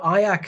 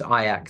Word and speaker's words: IACC: um the association is fondly known as ayak the only word that rhymes with kayak I've been told so